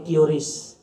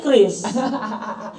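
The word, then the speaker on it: QRIS: bayar pakai Kis keris Nah harusnya Kris harusnya Kris jadi bukan cis ya dalam nomenklatur di Bank Indonesia itu bukan curis tapi Kris yang Ben k itu bacanya Kris ya Kris bacanya bukan kuris kalau bukan tapi kan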